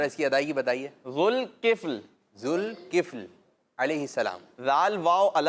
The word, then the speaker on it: ذوالکفل: ان کے نام کا تلفظ جو ہے وہ آتا نہیں ہے لوگوں کو صحیح نا، تو کل ذوالکفیل کہہ رہے ہوتے ہیں.